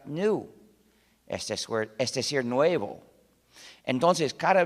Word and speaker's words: GNU: Se usa en muchísimos juegos de palabras porque, según el diccionario, la G es muda y la palabra se pronuncia new, es decir, nuevo.